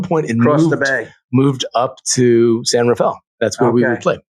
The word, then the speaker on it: San Rafael: But how would you say that? San Rafael? Yeah, that would be the assumed pronunciation. Yeah. But most of the locals call it San Rafael.